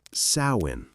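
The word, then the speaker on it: Samhain: This is Swin, the Celtic festival marking summer's end. You can pronounce it sin, though most people never get it right.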